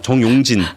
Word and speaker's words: 정용진: 근데 저는 이 정용진 회장님이 좀 되게 이 정치적으로 조심하셔야 될 거라는 생각들을 굉장히 많이 하고 죄송한데 발음 좀 조금 정확하게 정용진입니다. 용진으로 좀 부탁드리겠습니다. 아, 정용진 지금 댓글에서도 다 지금 나랑 헷갈리고 있어요.